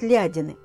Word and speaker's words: Лядины: Прямо на дороге из Каргополя в Пудож есть погост ЛЯдины (или, второй вариант ударения в названии - ЛядИны), называется так по слову "ляда" - "брошенное поле".